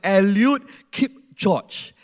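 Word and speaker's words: Eliud Kipchoge: this guy this guy the correct pronounce is elute Keep Watch and he is the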